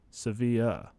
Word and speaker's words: Sevilla: Sevilla. Oh, so it is exactly the same as the soccer club.